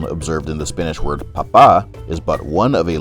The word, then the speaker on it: papa: In other words, you must pronounce the second A with a prominent high intonation, otherwise you'll find yourself